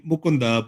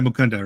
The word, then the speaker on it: Mukunda: Well I mean I mean the proper way in Indian languages would be mukunda but uh you know in America I even go by mukunda right.